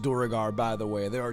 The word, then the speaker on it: duergar: even know of it oh and it is pronounced durgar by the way there are two canonical pronunciations one is durgar the other one is duergar that's literally coming from the top i have